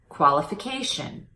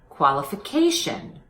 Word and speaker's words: qualification: one more time qualified qualification notice how my voice goes up in pitch on the strong syllable in these two words imitate that imitate the changing pitch qualified qualification good paying attention to